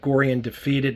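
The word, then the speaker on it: Gorre & Daphetid: Allen his layout that gorian defeated that's how it's pronounced Corian defeated this car was made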